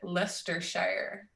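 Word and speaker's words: Leicestershire: Frank oh jeez all right Wise Guys pronounce it lestershire okay we go why don't you just spell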